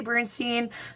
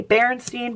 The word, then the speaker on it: Berenstain: however you pronounce it I say Bernstein some people say Berenstein Bears but I I don't know I was just told to say Bernstein Bears so that is what